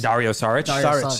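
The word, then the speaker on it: Dario Šarić: Dario Sarich.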